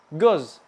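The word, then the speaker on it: göz: Nah, kalau misalkan kalian menemukan huruf O tapi ada titiknya 2 di atas, maka dibacanya itu agak monyong. E. Paham teman-teman? Lanjut. Contohnya adalah goz.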